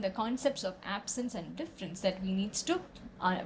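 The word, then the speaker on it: différance: very playful and interesting he coins an entirely new word pronounced difference but with an a there's a french term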